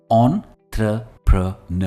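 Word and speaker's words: entrepreneur: कह सकते हैं एंपेन इसकी प्रोनंसिएशन है ऑन थ प्रन और स्ट्रेस वर्ड के एंड में आता है फॉर एग्जांपल द यंग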